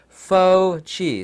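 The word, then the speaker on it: Fauci: There's a doctor, I use quotation marks, and you pronounce his name, it sounds like fake and chi. You know what Chinese chi is. Fake as in faux, F-A-U-X. So it's faux chi, so it'd be like fake chi.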